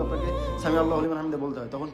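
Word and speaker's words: سمع الله لمن حمده: আইন ওইটা, এটা জেনে রাখবেন। আইন উচ্চারণ করছেন আপনি, আইন একটু শক্ত করে, সামি আল্লাহু লিমান হামিদা।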